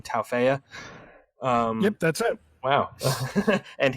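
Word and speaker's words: Tauaefa: They put a linebacker on the Josiah, I don't know how to say his last name, Taufeya.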